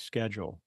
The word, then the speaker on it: Schedule: world today I'll be visiting with William Eddie's schedule did I pronounce the last name correct correctly yes spell